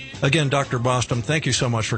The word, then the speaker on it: Bostom: Sounds like Boston, except it's spelled with an M. Again, Dr. Bostom, thank you so much for coming on today.